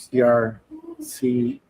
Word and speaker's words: CR-CIPI: Manuel, your vision for CR-CIPI. My pronunciation of this is half Spanish.